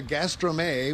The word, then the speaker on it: Gastrome: Market you guys if you've never been to Gastro May which is how it's pronounced this is what it looks like it's